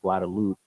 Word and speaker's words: Guadeloupe: on the island of Guadeloupe. Guadalupe or Guadalupe? Because I say it wrong all the No, time. Guadeloupe. Now Guadalupe. Guadalupe is in Mexico.